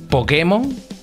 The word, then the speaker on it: Pokémon: de Por qué dice Pokémon Por qué dice Pokémon Por qué le pone la sabes por qué digo Pokémon acentuado en la e esto a lo mejor